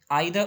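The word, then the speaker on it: either: आइदर और, नाइदर नॉर, इनको ईदर और नीदर नॉर यूएस प्रोनाउंसिएशन में बोला जाता है।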